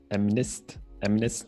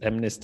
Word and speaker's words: MNIST: We'll use one of the most famous datasets in computer vision, MNIST, I believe is what it's pronounced, for our experiments.